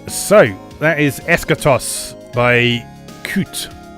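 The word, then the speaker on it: Qute: that is eschatos by coot they pronounce it cute with a Q as I say you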